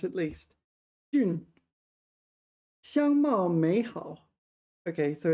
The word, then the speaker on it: 俊: I got the pronunciation right at least. Jun.